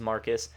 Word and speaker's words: Marquis: in the Mustang which he names Marcus and print Marquis and pronounces Marcus are training together in